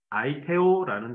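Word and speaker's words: αἰτέω: 먼저 구하다라는 헬라어 단어는 아이테오라는 단 어입니다 일본어 표기가 제대로 됐는지는 제가 확신할 수는 없습니다 그냥 한국 읽는 발음 그대로를 기록한 것이기 때문에 여러 번 인터넷 찾아봤는데 잘 모르겠더라고요 어쨌든 아이테오 헬라어로는 아이테오라고 읽어요 이 말은 반드시 주시기로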